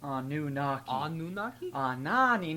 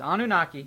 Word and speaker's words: Anunnaki: the Annunaki Johnny boy I think you pronounced it a new knock on Ani no no no no no no no it's Anunnaki bro do you know anything